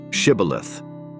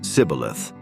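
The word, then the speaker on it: shibboleth: would say to him then say shth and he would say cilith for he could not pronounce it right then they would take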